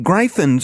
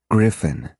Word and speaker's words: gryphon: Why can't you just summon some gryphons or wyverns or something? Korash winced at her pronunciation. "It's pronounced griffin," he retorted, "and the cost to summon flying